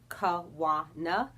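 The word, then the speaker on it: Kawana: is the second syllable wah is the second syllable of my name which is kawa na so wawa was a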